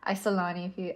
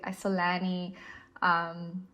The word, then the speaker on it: Isolani: So with playing with an Isolani, I know my South African accent says it in this way, Isolani, Isolani, this is how I pronounce it.